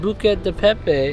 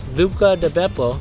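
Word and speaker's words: Buca di Beppo: buca hey yeah so apparently according to trevor i pronounced bucca de pepe wrong buco buca de beppo they're known for very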